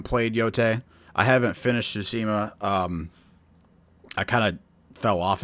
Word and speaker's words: Tsushima: I don't want to say that name wrong. Yeah, Tsushima. I almost said something else. Yeah, Ghost of Tsushima.